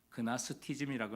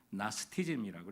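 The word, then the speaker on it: Gnosticism: 여기서 영지주의자네 그나스티즘이라고 나오는데 영어로는지가 묵음이라 그냥 나스티즘이라고 이렇게 부릅니다.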